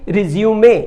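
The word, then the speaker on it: resume: Similarly रिज्यूमे, ये जो pronunciation अक्सर गलत करते हैं लोग, रिज्यूम का मतलब फिर से शुरू करना, फिर से उस काम को करना, और रिज्यूमे जो होता है स्पेलिंग वही है, जो प्रोनाउंसिएशन अलग हो जाता है।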